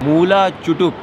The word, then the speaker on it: Moola Chutuk: Moola Chutuk (Pronunciation). Not Chotak. Not Chutok. Moola Chutuk.